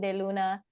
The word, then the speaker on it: de Luna: de Luna, I guess you would pronounce it in French.